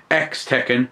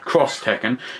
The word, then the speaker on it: X Tekken: was first announced was was X Tekken not cross Tekken so I find out we've been saying it wrong all this time it's taking a little